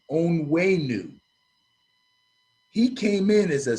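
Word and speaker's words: Onwenu: know this this kid his name is michael on wayneu o-n-w-e-n-u on way new he came in as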